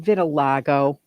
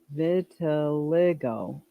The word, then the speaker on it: vitiligo: Is it vitiligo? Is it? Hold on. No. Vitiligo.